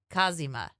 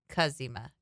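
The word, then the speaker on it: cazimi: it's called the Jupiter Kima I bet you're saying that wrong no kazima kazima kazima see yeah kazima the Jupiter kazima I'm saying it right they have it listed phonetically phonetically yeah kazima it comes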